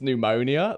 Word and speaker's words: pneumonia: But like, yeah, it's pneumonia. They're like, oh, with an N? Nah, like pneumonia. So the P.